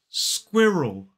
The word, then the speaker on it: squirrel: And that sound is more like an ul. So it's squirrel, squirrel. And that sound kind of moves over into the second syllable. So it becomes more like squirrel, squirrel. One key mistake that a lot of learners make is to release that L into a kind of L sound. So they say squirrel, squirrel. It's not squirrel, it's squirrel. 2 syllables, the stress falls on the first.